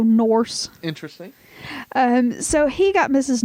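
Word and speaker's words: Nourse: Norse funny it's just funny the way you said it well it's it's spelled in O urs see like course but with an end so Norse interesting so he got mrs.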